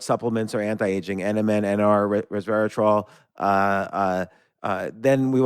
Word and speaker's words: resveratrol: talked before about um nmn and uh res Resveratrol I I don't know how to say it